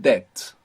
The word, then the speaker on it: debt: The English word debt, which is spelled D-E-B-T, has this B from debo. It comes from there. We don't pronounce it in English, of course, but this word is from Latin.